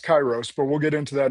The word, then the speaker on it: Kairos: It is pronounced Kyros, but we'll get into that in a little bit.